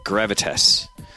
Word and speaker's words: Gravitas: League of Legends team in the OPL at Gravitas.